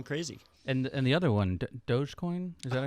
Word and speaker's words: Dogecoin: And the other one, Dogecoin? Is that how you say it? Dogecoin.